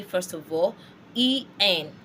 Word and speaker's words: en: E-N. talked about en, not n.